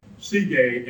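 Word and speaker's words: Sige: the ground Wow and the Greek name for that is CJ and now here I'm using our modern imitation of the ancient pronunciation CJ and CJ in Greek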